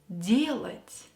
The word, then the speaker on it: делать: Дела делать. Дела делать. Pay attention to the stress. In the noun дела, the stress is on a, and делать, the stress is on e.